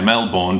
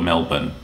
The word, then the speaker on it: Melbourne: the one that's actually most people get pronounced wrong is Melbourne. Now, of course, you want to say Melbourne because that's how it's spelled, but for some reason, we call it Melbourne.